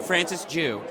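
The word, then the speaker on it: Francis Jue: Francis Jew.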